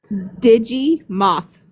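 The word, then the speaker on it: Digimoth: Digi Moth. Digimon. Digim. Did I say it right? Yes. Digim moth. Yes. Digi like digital and moth like the bug.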